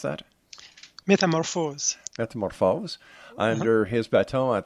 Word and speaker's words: Métamorphose: The world premiere performance of his orchestral composition, Métamorphose, is that how you pronounce that? Metamorphose.